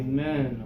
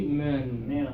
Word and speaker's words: men: confusion okay this one keep those teeth together when you say men or letter okay or friend you